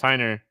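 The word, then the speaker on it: Haener: Yeah, I think it's Heiner. It's spelled Hae, but yeah, I think on the broadcast last week they were calling him Heiner.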